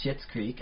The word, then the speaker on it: Schitt's Creek: word because it is it is spelled differently it's spelled s CI TT oh yes the new show on CBC new show it is called shits Creek I didn't that there's